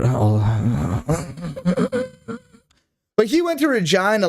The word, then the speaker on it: Regina: Regina rhymes with vagina.